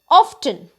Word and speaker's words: often: is basically pronounced as often but we should always remember that t is silent in orphan word the